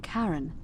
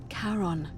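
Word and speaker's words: Charon: is a little off the name you heard wasn't karen it was c-h-a-r-o-n as in caron the ferryman of the dead karon who in exchange for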